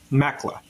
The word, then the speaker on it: Mechle: The reason why that was an exotic and not like a more fancy commuter was because it rhymes with Tesla, Mechle.